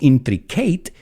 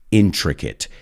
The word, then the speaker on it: intricate: pronunciemos esta palabra, porque no es intricate, sino intricate, ever-growing network.